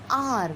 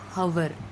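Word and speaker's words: hour: H is silent here, H is silent here also, H is silent. Honest, we will not say honest, honest. Then R, we will say R, not hover.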